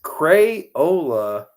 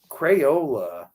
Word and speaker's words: Crayola: It's Crayola crayons. Crayons. So how do you say Crayola? Crayola. So okay. So where does that Y? How does that drop off? It's silent.